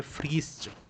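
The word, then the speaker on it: Fritsch: उनका नाम भी याद रखिए, उनका नाम है फ्रीस्ट। जनक का नाम क्या है? फ्रीस्ट। फ्रीस्ट, फ्रीस्ट स्पेलिंग है FRISTCH, फ्रीस्ट, है ना, याद रखिएगा।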